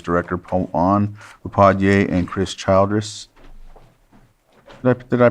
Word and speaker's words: Childress: Water Resources Director Pawan Upadhyay and Chris Childress. Did I pronounce it right? Childress, sorry.